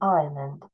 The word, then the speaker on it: island: Odysseus has just reached the island. Пам'ятаємо не Iceland, а Island. Letter S is silent.